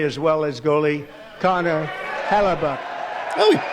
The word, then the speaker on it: Hellebuyck: gold tender play as well as goalie Connor Hellebuyck. Oh, he pronounced it correctly.